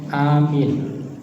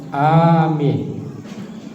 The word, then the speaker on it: amin: Jangan salah bacanya ya. Kalau amin salah lagi. Amin, amin, amin. Nah, yang benar itu yang amin. Kalau amin itu artinya amanah. Kalau amin orang beriman atau beriman lah, gitu ya.